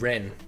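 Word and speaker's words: 人: pronounced- Yes, this is true. It's called Ren in Chinese.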